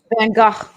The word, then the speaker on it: Van Gogh: You know how they pronounce it in Amsterdam? I bet you do. Van Gogh. Yeah, it's weird.